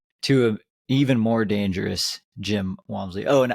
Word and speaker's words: Jim: Like that lends to an even more dangerous Jim Walmsley. Oh, and I think it's pronounced him, actually. Soft him J. Walmsley. It's a soft J.